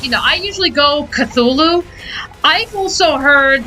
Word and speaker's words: Cthulhu: know i usually go cthulhu i've also heard like the h is you don't even pronounce the h like it's supposed to be uh pronounced ctulu i've heard i i've